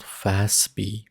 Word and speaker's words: FASB: these standards are issued by an organization called fastb fasb it is pronounced fast b financial accounting standards board is